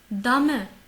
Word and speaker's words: Dame: Dame, dame, dame. Fais attention, le E, il n'est pas muet. Dame, ce n'est pas dame.